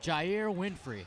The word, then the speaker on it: Jair Winfrey: JR, how do you say his name? Jair Winfrey.